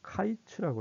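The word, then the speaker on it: קיץ: 자, 이거는 이제 어떻게 연결되냐 그러면 여름이라는 단어가 히브리어로 카이츠라고 그래요.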